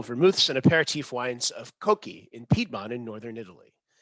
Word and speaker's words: Cocchi: three things you should know right off the top it's pronounced koki not kochi you might even hold that k in the middle just to get a little extra italian accent to it two these folks have